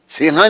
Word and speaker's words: सिंह: सिंह क्यों नहीं कहा? सिंहा नहीं है, वो शब्द है सिंह।